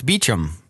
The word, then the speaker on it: Beauchamp: hotel that was Beauchamp, and he said Beauchamp, and they said, oh, that's Beecham, which I guess that's how they pronounce it there, even though originally the French pronunciation.